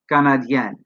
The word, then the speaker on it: canadienne: Elle est Canadienne. Here, notice that we not only add the silent E, we also double the N. Canadien, Canadienne. To make it plural, we add the silent S.